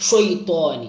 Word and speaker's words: الشيطان: ഷൈത്വാനി ഷൈത്വാനി ഒരു ഇസ്തേലായിൻ്റെ അക്ഷരമാണ്.